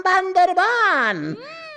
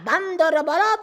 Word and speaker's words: বান্দরবান: নাম বান্দরবান হ্যা আমি বান্দা থেকেই জানিতাম এই জায়গার নাম বান্দরবান। উচ্চারণ ভুল করিয়া বান্দরবত বলি আছি।